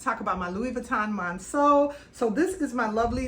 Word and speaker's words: Monceau: I didn't realize that the correct pronunciation of this bag is Monceau. I have been calling this bag the Louis Vuitton Monceau, and I want to go ahead and correct